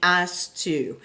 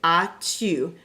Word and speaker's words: as-tu: Now be really careful, especially with this verb, and don't put the S at the end when you pronounce it, because otherwise you end up saying as-tu. And that definitely does not sound good, okay?